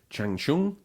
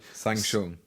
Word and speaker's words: Shang Tsung: Chang Chung and Nightwolf are out now. So if Mortal Kombat fans have no idea what I'm talking about, it's probably because I pronounce it wrongly. Shang Tsung.